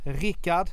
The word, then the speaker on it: Rickard: But my friend Rickard, that's the Swedish pronunciation, it's Richard in English, is a one watch